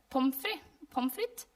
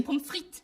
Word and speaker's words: pommes frites: Pommes frites. I think we mispronounce it. Like we take the French word, Okay. but then we take away the T at the end because you say pommes frites, right?